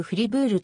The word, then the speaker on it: フリブール: あるドイツ国内でさえもこの街はしばしはフライ武力ではなくフリブールというフランス語の発音がなされる住民は